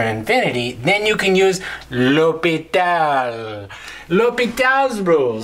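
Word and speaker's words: L'Hôpital: about l'hopital's rule how do you say that l'hopital lopita i wish he had more than rule one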